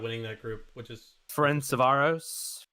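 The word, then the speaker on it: Ferencváros: there barcelona destroying winning that group which is friend savaros ferenzovaros oh yeah you pronounce it yes yes yes good game messi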